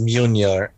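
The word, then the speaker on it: Mjölnir: It's pronounced Mjolnir. Yeah. Mjolnir, I think. Yeah, Mjornir. Just forget about how it's yeah. Forget about how it's spelled because pronunciation has nothing to do with spelling whatsoever. So Yeah, okay. like just ignore it. Just pronounce it as Mjolnir or something like that.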